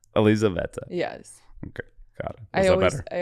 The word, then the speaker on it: Elizaveta: So I say, I think Elizabeth, but like with an Italian accent. So it's Elizaveta.